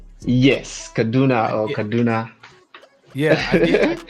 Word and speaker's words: Kaduna: And did I pronounce it? It's Kaduna, right? Yes, Kaduna.